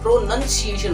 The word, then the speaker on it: pronunciation: बहुत से लोग उसको प्रोनाउंसिएशन बोलेंगे, क्या बोलेंगे? प्रोनाउंसिएशन। तो प्रोनाउंसिएशन नहीं होता है, एक्चुअली में प्रोनंसिएशन होता है। प्रोनाउंसिएशन, प्रोनाउंसिएशन, प्रोनाउंसिएशन, इट is called प्रोनाउंसिएशन, प्रोनाउंसिएशन, नॉट नाउंसिएशन।